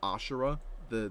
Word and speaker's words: Asura: people want, but I'm just in it for Azura. If Azura's Wrath gets on Death Battle, it's just Yeah. for Azura. Even though it's technically, Yeah, I'm pretty sure like- it's pronounced Ashura, the species that he's Yeah.